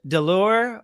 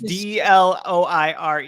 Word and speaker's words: Deloire: Is it Delors or? The French pronunciation is different than the way it's spelled. It's extremely confusing. There's a lot of silent letters and Deloire. It's Dloire anyways.